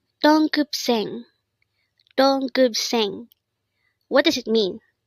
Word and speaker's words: 동급생: DONGGEUBSAENG. Again, it's DONGGEUBSAENG. This is pronounced as a three-syllable word. The first syllable is dong, second syllable is gup, and third syllable is seng.